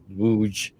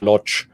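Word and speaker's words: Łódź: It was like, "Darling, let's go to Wuj. But Germans, as they sang the song, it was Wir fahren nach Lodz. So they would pronounce it in a German way.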